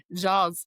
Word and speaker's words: Ja: And I made a a mistake of saying Jaw's um name wrong. I think I called him like John Morance cuz I I don't know. I don't do basketball, you know, any anymore. Uh oh, Mom. It's Jaw.